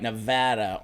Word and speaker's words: Nevada: gonna be in Reno Nevada say it right Nevada on February 1st oh yeah Reno never been